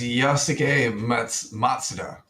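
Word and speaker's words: Yosuke Matsuda: That's Yasuke Matsuda.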